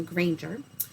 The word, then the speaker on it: Granger: name is granger it's spelled and sounds like a park ranger with a g in front of it so granger i've been teaching here